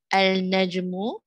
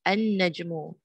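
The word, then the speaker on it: النجم: Al-najmu becomes an-najmu.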